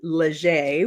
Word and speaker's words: Leger: his girlfriend Mandy who K pronounces her name legere which is very um Louisiana New Orleans French um were had had